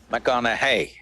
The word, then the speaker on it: McConaughey: try the second name mcconnell hey rhymes with what would madonna say so so i